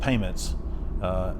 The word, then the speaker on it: PAYMXNTS: It's called Payments. It's spelled PAYMXNTS. And so it's all payments to do with the business.